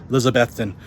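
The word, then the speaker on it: Elizabethton: if you watch this that's how you say it's Elizabethan um we won't hold it against your brother I'm I'm a newbie here and that was one of the first things they made me learn was how to say Elizabeth and and it's spelled like Elizabeth ton but you say that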